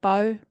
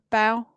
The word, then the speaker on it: Baugh: on was Sabrina and Mike Baugh or Bow, Bow. I think Bow. B A U G H. Sorry to Sabrina and Mike if I've got your name wrong. Bow, I think it is.